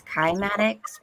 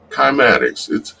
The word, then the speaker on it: cymatics: Cymatics? It's kymatics because it's Greek, but a lot of people pronounce it as cymatics, but it's called kymatics. Yeah, kymatics.